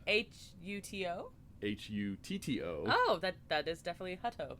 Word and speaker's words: Hutto: and I thought, I had to look up how it was pronounced, and then I still messed it up, but Hutto, it's spelled Hutto, so... H-U-T-O? H-U-T-T-O.